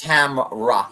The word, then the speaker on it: Tamra: You're adding an extra syllable with her name. It's Tamra, like She-Ra.